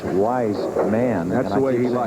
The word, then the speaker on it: Weissman: wise man another strike I keep making that mistake with the pronunciation of his name it's wise man wisman well I can remember when it was Tony Dorset and then Dorset remember uhhuh but he does like to be called wise man and we definitely